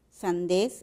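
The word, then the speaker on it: sandez: La palabra sandés, sandés es aguda, sandés, pero esta sílaba termina en una Z. Por esa razón nosotros no colocamos nada.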